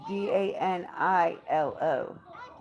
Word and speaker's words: Danilo: There's no E. It's DANILO. Danilo.